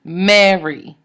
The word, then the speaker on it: Mary: And it's a trochee, Mary. But if you look at my name in French, it's Marie. Same name, but it just has the syllable emphasis reversed.